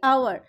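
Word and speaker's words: hour: ওকে, তাহলে এখানে দেখা আওয়ার এইচ দিয়ে স্টার্ট হচ্ছে, কিন্তু উচ্চারণটা আমরা করছি আওয়ার, তাহলে এখানে হবে কি?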